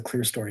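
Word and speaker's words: clerestory: these all these windows that that's called the clear story of windows and it's spelled C L E R E S T O R Y.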